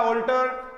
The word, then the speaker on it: alter: ऑल्टर। और नीचे वाला भी ALTR। इसको कभी भी एल्टर मत बोला करो। आप पैंट शर्ट आदि कई बार लेकर आते हैं तो ऑल्टर करवाते हो, एल्टर नहीं होता।